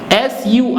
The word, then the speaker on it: sur: S-U-R, R will be pronounced, so it becomes sur, la, P-O-N-T, T will